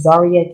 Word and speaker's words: Zaria: My Instagram is Zaria K. That's Zaria. My name is spelled like Maria, but with a Z.